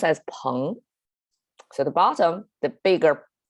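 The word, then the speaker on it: 朋: So it's pronounced as peng.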